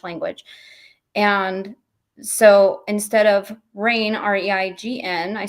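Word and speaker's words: Raine: It's called The Rain Continues, and Rain is spelled like my last name.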